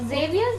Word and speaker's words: Xavier's: ST is pronounced as Saint. But Xavier's, you said it right.